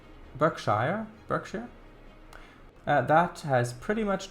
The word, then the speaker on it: Berkshire: little bit in fact Berkshire is pronounced back Berkshire Berkshire that has pretty